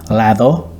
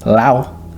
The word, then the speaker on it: lado: maíz, mais, cojete, cohete, We leave out certain consonants when they appear between vowels, lado, lao, mojado, mojao.